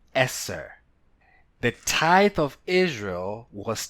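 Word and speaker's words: עשר: The Hebrew number 10 is pronounced Eser.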